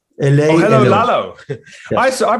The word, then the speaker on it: Lalo: Did you say hello yellow? Hello. Lalo. Hello, Lalo. Yes. I pronounce it like hello, like, which is quite a cool thing.